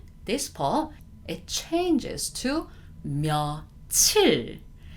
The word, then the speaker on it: 며칠: This time, this 몇 일, this part, it changes to 며칠. Not only the pronunciation, it does change the spelling itself as well.